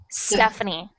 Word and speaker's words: Stephanie: said now is good just starting with the s not the e so stephanie yes okay thank you